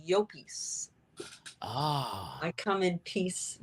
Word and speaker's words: Llopis: Yeah, Llopis. Because double L in Spanish, you pronounce the Y. it like a Y. So it's Llopis.